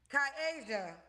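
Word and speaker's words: Kai-Asia: Kasia. Yep, just how it's spelled. That's why my name have the dash. My mama put that there so people know it's Kai and Asia.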